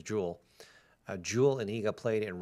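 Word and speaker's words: Jule: So round 4, and apparently I've been calling her Julie, and her name's Jewel.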